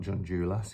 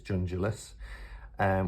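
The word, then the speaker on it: Junjulas: It's not Jungulas, it's Jungulas.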